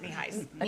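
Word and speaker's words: Nienhuis: Not quite as long as Johnny, but I know they pronounced it kneehis families.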